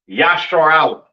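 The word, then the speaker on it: ישראל: what I'm saying and Israel is not pronounced yashar is not pronounced Israel in the Hebrew that is not how you pronounce Israel Israel is pronounced yah Allah all right yashar Allah right meaning Prince of the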